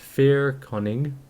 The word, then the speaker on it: Fair Koning: The Fair Koning of Adir, so it's pronounced Fair Koning, that's pretty close, the first king, knew